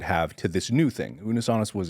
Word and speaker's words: Unus Annus: I have this severe sense of FOMO when I found out about am I pronouncing it right? Unus annus? Unus annus. Unus annus, yeah.